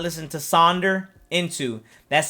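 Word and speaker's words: Sonder: again if you guys have not listened to saunder into that's spelled s o n d e r dash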